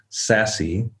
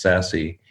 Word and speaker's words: SASE: secure access service edge also known as sassy s-a-s-e but pronounced sassy is a new trend